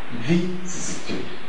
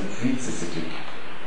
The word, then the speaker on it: vicissitude: So, but we know that the stress doesn't fall on the first syllable in that word. So we can't pronounce it vicissitude. But it's on the second syllable, vicissitude.